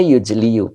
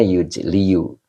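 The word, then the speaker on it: يجلي: Jadi kalau huruf ilat di akhir dia menelan harakat begitu Pak Samsul ya. Begitu. Jadi dibaca cukup yujlil baso. Nah, Mbak Uti subhanallah gitu ya, Mbak Uti ya. Nah, begitu Pak Samsul. Jadi kalau metode alan e ingat terakhir huruf ilat. Huruf ilat itu alif ya, waw wo. Nah, itu ketika berada di akhir itu harakat yang ada itu ditelan. Jadi cukup yujli.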